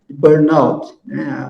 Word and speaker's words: Burnout: síndrome de Burnout né Burnout a pronúncia é inglês Então essa síndrome ela